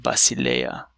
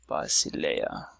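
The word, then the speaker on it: βασιλεία: So let's look at the word Basileia, which means kingdom. Basileia. So in this case, the syllable breaks up here, and now we encounter these three vowels here.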